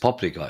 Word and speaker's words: paprika: Paprika, pronounced paprika in Hungarian.